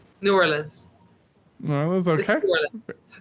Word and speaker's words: New Orleans: So, proper pronunciation, New Orleans, like I've been saying or New Orleans. New Orleans.